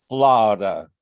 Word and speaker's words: Florida: performances and I will use my best Georgia pronunciation she looked at him and she said flada in other words Florida um yes ma'am St